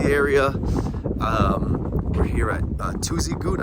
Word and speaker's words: Tuzigoot: um we're here at tuesday good i think it's pronounced two as you go t-z-i-g-o-o-t uh it's some